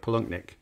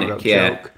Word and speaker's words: Palahniuk: surname wrong, because I don't know if I'm pronouncing it, but Chuck Palahniuk, that's how I've said it multiple times. If I'm wrong, then I'm sorry. But obviously he wrote Fight Club. Palahniuk.